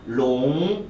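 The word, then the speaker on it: 龙: 용 되게 기니까 LONG 생각하시면서 롱 발음 시작.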